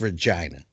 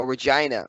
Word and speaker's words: Regina: Canada and hockey it's Regina Oh Regina okay yes rhymes with vagina got it well shoots